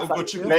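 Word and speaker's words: Ugochukwu: Oh, that's Hugo Chukwu. Yeah, Hugo Chukwu. Yeah, and you pronounced it that's correctly, good actually.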